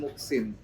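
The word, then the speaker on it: Moehsin: Jadi nama saya itu sebenarnya Muksin. Muksin. Insya Allah orang yang baik ya. Oh ya. Nah, tapi sebenarnya kan pakai ejaan lama MOE. Muksin, MOEJSIN. Nah, saat itu saya awalnya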